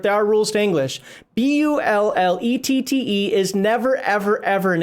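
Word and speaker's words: bullette: and so forth there are rules to english b-u-l-l-e-t-t-e is never ever ever in any form of english boule it's either bullet because you're pronouncing it or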